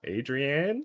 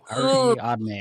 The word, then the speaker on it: Ariadne: Adrienne. No. Ariadne, I think.